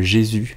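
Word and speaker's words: Gesù: pour une salle qui s'appelle le Jésus on s'écrit Gesu c'est une salle de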